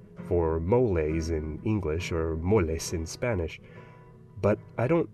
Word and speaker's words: mole: The Spanish borrowed the word mōlli, pronounced it "mo-le", and that's the way